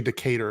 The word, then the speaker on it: Decatur: Yeah, it's actually Decatur is how they pronounce it.